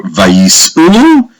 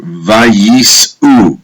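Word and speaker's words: וַיִּסְעוּ: It says, look at the Hebrew, Vayisu. You see this letter here? That is pronounced as an U, which makes it plural. Vayisu, they traveled.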